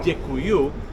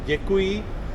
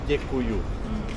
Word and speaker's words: děkuju: děkuju, which is a Prague accent. Yeah, so in Prague we have a dialect, and we say do děkuji, say děkuju. Yeah, but it's really close.